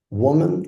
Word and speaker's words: woman: Is this woman or woman? And let's listen. Woman. How to be correctly putting the emphasis at the beginning of the word.